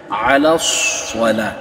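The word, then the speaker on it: الصلاة: করতে হবে এরপরে হাইয়া আলাস সলা এখানে হচ্ছে সদ এখানে অনেকেই সিন বলে থাকে সিন বলে এ কারণে আপনাদের এ বিষয়টা একটু ক্লিয়ার রাখতে হবে আর হাইয়া আলাস এটা সোয়াদ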